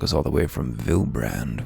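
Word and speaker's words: Vylbrand: all the way from vilbrand which we learned yesterday is now pronounced vilebrand even though that's better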